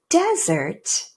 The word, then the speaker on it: desert: But even more important is that the word desert does not reduce to schwa. Neither of those two syllables reduce to the schwa sound.